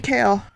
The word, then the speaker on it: Kale: As Glenda Kale, pronounced like the vegetable, reached to finger the